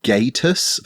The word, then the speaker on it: Gatus: maybe I'm supposed to pronounce gatus like status oh which you could think of like a status page tool which among other